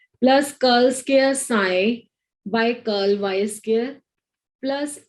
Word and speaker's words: psi: P इसमें silent है तो पढ़ते हैं इसको साई है.